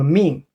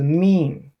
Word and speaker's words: 命: A bigger form, pronounced as wei, is area. Another one is called Mìng. There's 2 most common translation. One is life. Another is fate. Mìng.